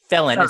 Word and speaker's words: felon: it to you there it's felon felon so it's first syllable stress soft e felon a felon can